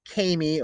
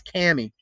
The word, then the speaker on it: Kami: introduced to this summer which was by the way rhymes with clammy all right cami it's not kamey or kami it's cami okay it allows you to